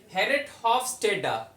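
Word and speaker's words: Geert Hofstede: Third पे आए, अभी ये इसकी प्रोनाउंसिएशन देखें, हेरेट, ये जो ये लिखा हुआ है थर्ड पे, हेरेट हॉफस्टेडा। क्या है, हेरेट हॉफस्टेडा, ठीक।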